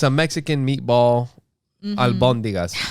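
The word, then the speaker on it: albóndigas: Albondigas is the right way to say it, but I call it bondigas.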